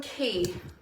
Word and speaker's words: Quay: glasses someone just asked they're from Key it's pronounced Quay we all love the